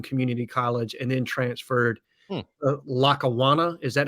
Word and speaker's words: Lackawanna: Had a few seizures, needed to get that under control, went to Hutchinson Community College, and then transferred Lackawanna. Is that how you say it? Yeah, Lackawanna.